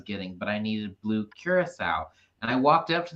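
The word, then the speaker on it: Curaçao: like no it's blue correct no it's blue curacao and she's like whatever we have it in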